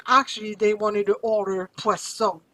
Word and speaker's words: poisson: You see the first S is between two vowels. Z sound. Le poison. But if I double my S, it becomes le poisson.